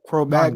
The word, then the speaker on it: Cro-Magnon: Um, Cro Yeah, Cro-Magnon.